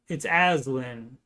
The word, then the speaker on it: Aslan: It's Aslan. I'm pronouncing it correctly.